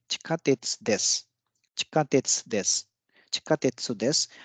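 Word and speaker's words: 地下鉄です: यहाँ पे देस भी है इसके आगे, तो यहाँ पे सु डिवाइस नहीं होगा, बल्कि जो अंत में जो देस है, देस में जो सु है वो डिवाइस हो जाएगा।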